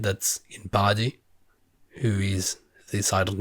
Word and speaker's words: Paradis: Ymir's people to Paradis, which is another French word for you, because I kept saying paradise, but no, it's called definitely Paradis, like in French. It's pronounced like in French, so I'm going to say it in French.